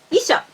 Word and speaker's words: 遺書: And as I said in other videos, ou should be pronounced o. So the difference between these two words is on the length of the last vowel. Isho has 3 molars. Isho has 2 molars.